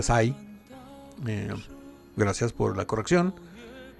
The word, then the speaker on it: Cai: La primera que su nombre Kai se pronuncia Sai.